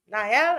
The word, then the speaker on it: Niall: and we're going to break down what Niall Niall, I said it right.